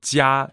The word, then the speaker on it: 家: So 家 is first tone, and it's actually also the word for family.